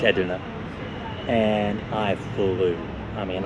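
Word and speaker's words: Edirne: You know, it's taken me a month, lower month to go from Mardin to Edna, which I pronounced as Erdin in the very first video, but it's it's Edna.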